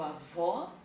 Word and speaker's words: avó: Se eu digo avó, eu coloco um acento agudo, som aberto e som fechado.